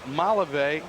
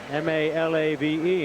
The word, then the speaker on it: Malave: Valentin and vaugh cono naring and Stanley Jefferson Malave and Tingley in center field all right we're